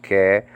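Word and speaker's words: καί: And Greek word chi, copulative connective conjunction. Nowadays pronounced ke.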